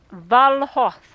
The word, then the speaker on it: Valhoth: Valhoth.